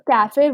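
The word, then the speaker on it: café: यहाँ पर ई की प्रोनाउंसिएशन है, अगेन इसका भी रीजन यही है कि जो कैफे वर्ड है, word is from a different origin, ठीक है। तो जो कैफे वो इंग्लिश वर्ड नहीं है ओरिजिनली, दैट्स वाई उसमें ई प्रोनाउंस होता है, ओके।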